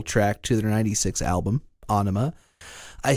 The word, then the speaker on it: Ænema: to their 96 album, Ænema. I say sorta because the album is spelled like, have you ever seen that character that's like an A and an E mushed together? Yeah.